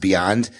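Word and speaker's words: BYND: just got a shout out um to the Beyond brush from both Kirk and myself it is an amazing brush um and it's by y n d but it's pronounced Beyond and it's through Sean Zas um who's in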